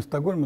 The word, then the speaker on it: Стокгольм: Ну, в русском языке в таких словах, как Фридгольм и Стокгольм, ударение со шведского варианта переносится на окончание. Хотя, на самом деле, свой город, скажем, шведы, свою столицу называют Стокгольм, то есть остров бревен. Сток – бревно, Хольм – остров.